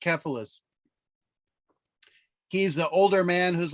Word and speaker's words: Cephalus: and this guy cephalus it's pronounced cephalus he's the older man